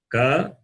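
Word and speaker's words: क: Number 3, you can see ka, kha, ga, gha, na. Ka, kha, ga, gha, na. I will pronounce again in detail.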